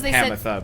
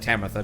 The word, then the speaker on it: Pamitha: sorry pamitha and uh the narrator said pamitha but it sounded like tametha to me anyway all right